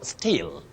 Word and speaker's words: still: Still, S-T-I-L-L. Still, not steal. Still is the pronunciation of S-T-E-A-L, Kuiba, and Chuma, S-T-E-E-L. Yeah. So S-T-E-A-L and S-T-E-E-L are homophones, and you pronounce them with a long sound E.